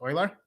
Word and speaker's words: Euler: I mentioned Euler or somebody's saying it's pronounced Oiler.